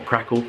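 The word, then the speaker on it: Kraków: We're off to Krakow, or Krakow as it's pronounced, in Poland.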